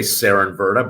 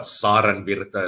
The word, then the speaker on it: Saarenvirta: It's a Finnish name. So most people say Saarenvirta, but Saarenvirta is the Finnish pronunciation. Saarenvirta.